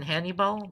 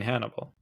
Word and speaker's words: Hannibal: I liked him in Hannibball. That was her great show. You mean Hannibal? Yes, that's what I said. Say it again. Hannibal. Oh, okay. And this time you said it right.